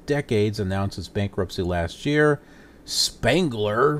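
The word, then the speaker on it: Spangler: announces bankruptcy last year Spengler which rhymes with Wrangler jeans candy company stepped in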